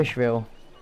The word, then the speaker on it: Fishville: To Fishville. Fishville. Fishville. I actually have to pronounce it like Billy, not Ville.